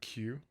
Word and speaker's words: Kew: another one in um q like kew yeah and they're like